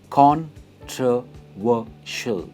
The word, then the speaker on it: controversial: इसकी प्रोनाउंसिएशन है controversial and not controversial. It's controversial. Say it with me. Controversial. Controversial. और stress वो पे आता है, controversial.